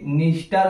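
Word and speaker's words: Dniester: आगे ये है आपका डेन्यूब रिवर, डेन्यूब रिवर, और यहां पे निस्टर और नीपर में जो है डी लगा के आएगा, डी साइलेंट रहेगा, तो डी लगा के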